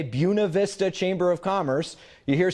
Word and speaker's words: Buena Vista: Chamber of Commerce I prefer that people say buena vista and i'll say that because it was chosen